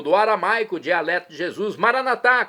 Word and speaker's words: maranatá: E agora eu clamo do aramaico, dialeto de Jesus, maranatá, como dizemos nós católicos, ou maranata, como dizem nossos irmãos separados, evangélicos ou protestantes, não importa a pronúncia, o significado é o mesmo.